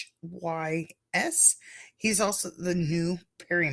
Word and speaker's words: Rhys: And Matthew Rise, I believe that's how you pronounce his name, Rhys.